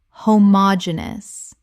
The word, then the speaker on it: homogeneous: Common mispronunciation homogeneous Correct pronunciation homogeneous Five syllables with the stress on the third, meaning of the same kind.